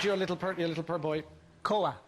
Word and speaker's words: Koa: And you called your little purr boy Koa. Koa. And how do you spell that?